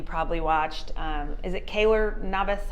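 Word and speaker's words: Keylor Navas: goalies that you probably watched um is it Kaylor Navas how do you say his name Kaylor Navas yeah that sounds way better um of Costa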